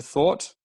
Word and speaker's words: thwart: It's a difficult word to pronounce. Thwart. It's almost like thought, but it's like when you think of. There is a what sound after the th.